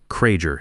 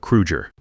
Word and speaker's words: Krueger: He mispronounced Hans's name, Kraeger instead of Krueger.